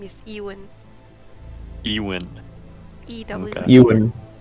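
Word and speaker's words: Ewen: maker's name is Ewan. Ewan. E-W. Okay. Ewan, pronounced with a U, E-W-E-N.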